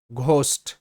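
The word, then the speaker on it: ghost: ঘোস্ট, GH, ঘ sound, একসাথেই GH এর উচ্চারণটা হবে ঘ। আর OST এটা হচ্ছে ওস্ট, ঘ, ওস্ট, ঘোস্ট, ঘোস্ট। এবার পোস্ট, POST, পোস্ট।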